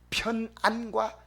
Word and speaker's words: 편안: 편안과 평안, 컴포터블과 영어로 말하면 피스를 구별해야 됩니다. 걸어가려니까 힘든데 차 타고 가니까 평안하다 하면 안 됩니다. 편안하다. 발음을 똑바로 해야 돼. 편안.